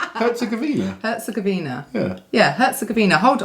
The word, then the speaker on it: Herzegovina: Herzegovina. Herzegovina?